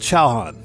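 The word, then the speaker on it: チャーハン: Um uh believe it or not, it's called chowan. That's that's how it's pronounced in Japanese.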